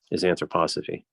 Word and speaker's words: anthroposophy: Steiner had his own kind of esoteric Christianity, which was central to his anthroposophy. Well, that's how you pronounce it.